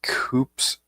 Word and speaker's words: coups: They keep having coups. Cuz you don't pronounce the P."